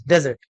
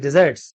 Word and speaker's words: desserts: got her just desserts do not pronounce it as desert it is desserts food I think she